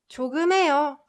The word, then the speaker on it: 조금해요: This h sound gets muted. So I'll try pronouncing the whole sentence. 한국어 조금해요, 조금해요, 조금해요. So you can like hear that slight h, right?